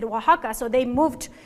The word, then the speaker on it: Oaxaca: um you know know it these days and Waka it's also the name of the state but